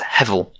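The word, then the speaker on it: הבל: And so the Hebrew word behind that's hevel, something pronounced a little bit like that.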